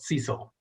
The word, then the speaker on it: SLCE: student involvement and leadership we affectionately call it cecil and just kind of pronounce it with those four letters it's a merging of